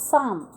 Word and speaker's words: psalm: Students, here in the word of psalm, P is silent, even L too. So you have to pronounce psalm.